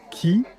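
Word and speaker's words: 木: Par exemple, pour le mot arbre, qui se prononce ki, le kanji en fait évolue à partir de ce qui aurait été à l'origine un dessin d'un arbre, non?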